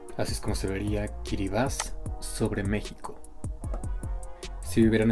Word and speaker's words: Kiribati: Sí, pronunciado Kiribati, es el primer país en ver la luz del día y también uno de los menos visitados en el mundo.